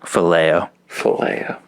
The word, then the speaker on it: phileo: How do you pronounce it? Phileo.